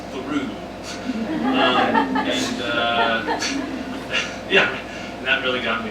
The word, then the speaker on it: Thoreau: There's a town there called Thoreau, pronounced Thoreau.